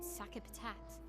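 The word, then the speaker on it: Sakapatate: We already defeated your ultimate sakapat. Sakapat. That's how you pronounce that.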